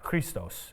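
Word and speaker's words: Χριστός: Christos is how you say it in Greek.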